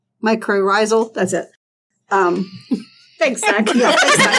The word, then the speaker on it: mycorrhizal: because she's talking about like discovering like the metacrosal. I'm not to pronounce that right. How do you pronounce it? It's like mycorrhizal.